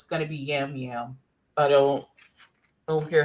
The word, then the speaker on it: Yam Yam: I think it's pronounced jam jam. They pronounce the Y like a J, but I just my vision say Jam.